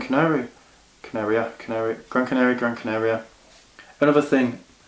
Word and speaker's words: Gran Canaria: Canaria Canary Gran Canary Gran Canaria another thing I'm being told I've been pronouncing it wrong but I've been saying Gran Canario but I finished Gran